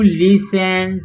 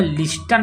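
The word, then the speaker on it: listen: को कहा हैड यू लिसन to your elders देखो यहां पर लिस्टन नहीं पढ़ेंगे से प यस होता है तो टी साइलेंट हो जाता है तो य इसको पढ़ेंगे लिसन और ईडी लगा हुआ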